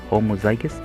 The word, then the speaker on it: homozygous: Scientists use the word homozygous, pronounced homozygous, to describe having two of the same allele